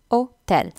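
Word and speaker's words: hôtel: ஹோட்டல் வந்து ஒட்டல்னு சொல்லணும், ஓட்டல். So again ஹோ அந்த ஏச் சொல்கிறதில்ல, அதை விட்டுட்டு நாங்கள் அந்த ஓ தான் ஸ்டார்ட் பண்ணலாம், ஓட்டல்.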